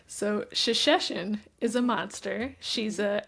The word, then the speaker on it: Shesheshen: So it's shashes. Shashes. Okay. Yes. And the narrator did a great job. So, all right. So, Shashesin is a monster.